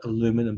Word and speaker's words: aluminium: I believe that you guys call it aluminum, but we call it aluminium. So I'll call it aluminium because that's how I know how to say the word.